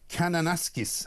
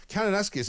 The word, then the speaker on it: Kananaskis: well over in Canada in a place called Kananaskis, I think. Is that the right spelling? Ryan, very good right pronunciation.